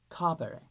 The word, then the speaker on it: capere: I'm saying capio capere. Notice how I'm making that e in the infinitive short.